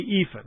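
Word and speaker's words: EAFE: world index in the ephah least the world is x means everybody and the ephah and that's how it's pronounced I didn't make it up EA Fe was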